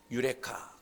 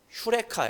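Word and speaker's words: εὕρηκα: 말이 있잖아요 뭐라고 얘기합니까 유레카 그렇게 얘기하죠 아 모르시나요 정확하게 발음하면 휴레카 그래요 근데이 유레카 아고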